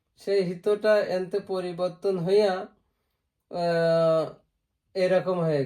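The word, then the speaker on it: 人: দেখি ই নি ওকে two stroke হিত হিত উচ্চারণ হল হিত। একটা আছে হিত আরেকটা হল জিন।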